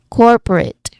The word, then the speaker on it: corporate: The upside down e, it represents awa sound, which you know um it is often described as a very relaxed uh sound, right? It's quick and it's unstressed.